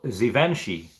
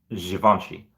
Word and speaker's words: Givenchy: Oh, Givenchy. Thank you, Smooches. So Givenchy. Okay, so that's how. Really? That's how you spell it?